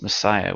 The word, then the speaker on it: Messias: a direct translation of the Hebrew word Messias uh that we pronounce Messiah which also means anointed quote unquote.